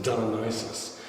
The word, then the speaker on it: Dionysos: of the Statue of dionysos as the Greeks pronounce it diis and it comes from